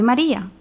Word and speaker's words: Maria: In Latin, these are pronounced Ave Maria. Do not pronounce Maria the English way. The R should be rolled or flipped, like in Spanish or Italian, using your tongue against the palate, not the throat.